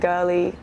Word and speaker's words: Girli: more um and yeah you can find me girly music on all the socials and girly um on all the streaming sites and stuff